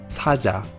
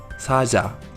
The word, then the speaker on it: 사자: A principio de palabra suena como una CH, un poco más suave. En medio de palabra suena mucho más suave, por ejemplo, 사자, que es león.